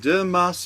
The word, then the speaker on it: Dimas: Oh, it's not pronounced Dimash with, it's not sh at the end. Sh. I don't believe so. I think it's just an S without the H.